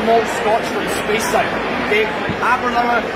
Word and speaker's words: Aberlour: Okay, Aberlour, it rhymes with happy hour.